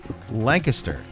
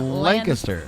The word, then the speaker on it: Lancaster: By the way, take note how she pronounced that city name, everybody. Lancaster. That's right. That's how we say it in Pennsylvania, not Lancaster. Not Lancaster, which is the California is Lancaster, I think.